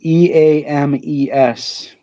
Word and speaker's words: Eames: Eames.